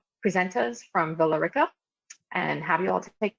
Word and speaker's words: Villa Rica: So take everything you learned in Spanish class and throw that out the window. We pronounce it Villa Rica.